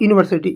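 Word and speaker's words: university: अ यूनिवर्सिटी यूनिवर्सिटी जो लिखा जाता है वो हिंदी में लिखेंगे यून यूनिवर्सिटी यू और हिंदी के हिसाब से क्या है यू एक आपका कंसोनेंट है व्यंजन है तो हिंदी को भी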